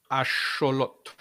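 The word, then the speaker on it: axolotl: with an X and in the indigenous languages uh from the Americas the like in in axelottle axelottle um axelottal um in Spanish I think it actually is spelled aote, but it comes from asholot ash in um in nawat.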